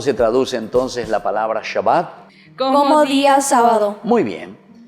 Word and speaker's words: Shabbat: En hebreo, queridos niños, se dice Shabbat.